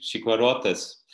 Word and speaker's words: Chicuarotes: Yeah, this reminds me of your own movie, Chiquarotes. Did I pronounce it well?